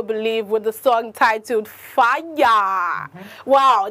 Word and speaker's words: Faya: song titled fire wow this fellow song is f-a-y-a why why does spelling do it because i pronounced like singing it i didn't pronounce it like first it's like the way you pronounce it when your house is really on fire yeah i like the